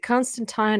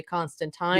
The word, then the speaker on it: Constantine: an effort to say Constantine, because they're not especially- just saying it's about the pronunciation. yeah, Like Alan Moore says, regardless of accent, it's Constantine.